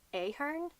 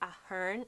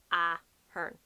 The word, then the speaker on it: Ahern: A lot of the ways that we pronounce things, we don't give such an emphasis on the second syllable almost. I don't know what way it is in linguistics, but we go Ahern, not Ahern. Ahern. The emphasis is kind of like at the start, Ahern, and then you go down the ways.